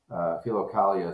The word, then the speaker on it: Philokalia: Philokalia is how it's said, but in Akenside we have this joke. We sort of say it with a southern philokalia of Origen.